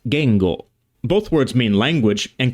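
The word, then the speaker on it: 言語: pronounced while the equivalent word in Japanese is pronounced Gango both words mean language and consist of the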